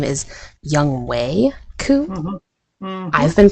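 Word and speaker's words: Younghoe Koo: I really, from a fantasy football perspective, it made me very happy because apparently his name is Young Wei Koo. I've been pronouncing his name wrong for years, and I apologize, but also it's pretty funny.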